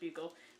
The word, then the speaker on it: buccal: the little swab kit and the adhesive so buccal swab kit directions the kit contains two buccal swabs that's pronounced buccal peel off the protective paper from the adhesive